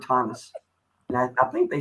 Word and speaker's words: Taunus: Say it right, Dad. It wasn't a taint. It was a Ford Taunus.